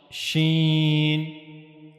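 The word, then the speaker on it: شين: So you have to use the middle part of the tongue and it will go towards the roof of the mouth. It will never connect though to the roof of the mouth. So that's how you can easily pronounce shen.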